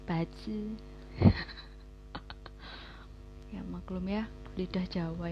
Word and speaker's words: bazi: Nulisnya bazi sih. Tapi bacanya pace.